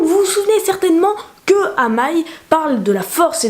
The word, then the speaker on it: Amaï: Donc, vous vous souvenez certainement qu'à un moment, Amaï, ça s'écrit A-M-Y. Donc c'est Amaï, parce que Y c'est Aïe.